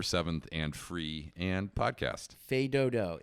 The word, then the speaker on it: Fais Dodo: Fais Dodo. It's French, okay? It's not It's face spelled doo-doo. it's spelled as Face Doodoo, but we're going to continue calling it Fais Dodo because that's what they prefer.